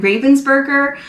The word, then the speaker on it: Ravensburger: Many Americans say it Ravensburger, but then someone in the comments said that it is a German brand, so they call it Ravensburger. But it's either way depending on where you live. So I say Ravensburger just because it is a German brand, so I'm going to pronounce it that way.